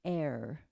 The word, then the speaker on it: err: But you see, we're divine humans, and on the human level, we do err. It is human to err, I understand is the proper pronunciation, but who says it that way?